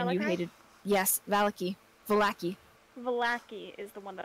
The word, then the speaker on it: Vallaki: It's like when we pronounced that town in, what was it? It was in Barovia, in the town, Valakai? And you hated... Yes, Vallaki.